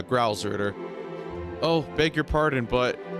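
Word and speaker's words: Gralsritter: Am I pronouncing right? Growl? Yeah, Growlritter.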